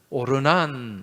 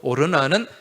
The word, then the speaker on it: 오르난: 또 역대기의 말씀에 보면은 오르난 이렇게 나옵니다. 그죠? 같은 사람이에요. 오르난의 타작마당, 아라우나 타작마당. 이 아라우나는 여부수식 발음이고, 이 여부수 사람이잖아요. 여부수식 발음이고, 오르난은 히브리식 발음이에요.